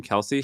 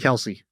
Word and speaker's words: Kelce: Kelce. Kelce.